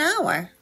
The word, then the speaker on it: hour: idea an egg an hour notice that n is used before our even though it starts with an H that's because it's pronounced with a vowel sound our here the tip